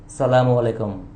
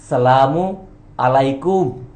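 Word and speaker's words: السلام عليكم: দেখা হয় কি বলেন সালামু আলাইকুম তাইতো বলবেন না সালামু আলাইকাম এর অর্থ জানেন তো আপনার ধ্বংস হোক আপনার নাশ হোক আসল উচ্চারণ বা আসল প্রোনাউন্সিয়েশন টা হচ্ছে সালামু আলাইকুম সালামু আলাইকুম অর্থাৎ ঈশ্বরের আশীর্বাদ আপনাদের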